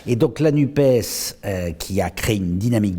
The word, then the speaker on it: NUPES: de la gauche, appelée NUPES, donc vous prononcez le S, donc je le prononce comme vous. Mais je suis originaire du Gers, donc on a l'habitude de prononcer les S. Et donc la NUPES, qui a créé une